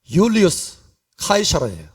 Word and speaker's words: 율리우스 카이사르: 근데 이 줄리어스 시저가 사실은 그 이름이 영어로는 줄리어스 시저예요. 그런데 라틴 말로는 발음이 달라요. 율리우스 카이사르예요. 율리우스 카이사르. 그래서 이 줄리어스 시저가 로마 제국의 기틀을 만들었기 때문에 그 다음에 황제들이 일어날 때마다 이름을 카이사르를 따서 씁니다.